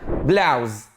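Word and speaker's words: blouse: والبلوزه اسمها بلاوز، بلاوز. مش ب. خلي بالك في فرق ما بين البي والبي، ملناش دعوه بدي، عايزين بلاوز، بلاوز.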